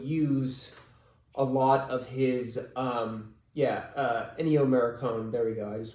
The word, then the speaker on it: Ennio Morricone: Ennio Morricone, if I am pronouncing that correct, who had done a lot